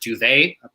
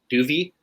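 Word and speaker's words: Dov: D-O-V, pronounced Duvet, apparently, Duvey.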